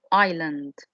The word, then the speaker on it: island: we have the word island island this is an island okay and of course here this s is silent we don't pronounce this better giant do you